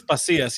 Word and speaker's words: Pasillas: and that is pasas pacillas I should have asked you how to say your last name you want you want to tell me how to say it it's pasas yeah you nailed it right there to be